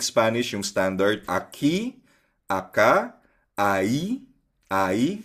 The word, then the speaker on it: ahí: Ayun so pero i-pronounce natin siya academic Spanish 'yung standard aki. Aka. Ayi ayi silent H.